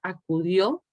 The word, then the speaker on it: acudió: Entonces, las sílabas átonas, por ejemplo, la palabra acudió, a, cu, son sílabas átonas. Y la sílaba tónica sería dio, porque precisamente vean que la O tiene además un acento marcado, que indica que esa es la palabra, esa es la sílaba fuerte, la sílaba con mayor marca del acento.